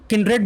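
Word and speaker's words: kindred: देखो फ्रेंड्स, इसको किंड्रेड बोलते हैं वैसे तो, अगर आप देखोगे प्रोनाउंसिएशन, ठीक है ना, डिक्शनरी में तो किंड्रेड बोलते हैं। वैसे आप इसको काइंड्रेड बोल दो, जो भी बोल दो, आपको जो सुटेबल है काइंड्रेड, वैसे तो किंड्रेड बोलते हैं इसको।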